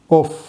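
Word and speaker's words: œuf: இதை எப்படி உச்சரிக்கணும்னா ஓஃப். இதில் கடைசியில் எஸ் சேர்த்தனா ப்ளூரல் ஆகிடுது. ஆனால் இதை ஓன்னு தான் உச்சரிக்கணும். ஒரு முட்டைனா ஓஃப், நிறையா முட்டைனா ஓ.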